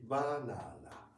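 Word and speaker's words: バナナ: It should be banana. Banana. Same. Mhm. Without stress. Same. Yeah. Same loudness. Same loudness. And we have no schwa sound like we ah is always pronounced as a very clearly.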